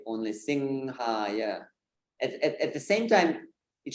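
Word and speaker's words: Narasimha: There is an anusvara. So this is anusvara. It's that nasal sound where you don't even need to close your lips. So you can say singha and this will be correct. If you say simha, it's not correct. So singhaya is a correct way of singing, not simhaya.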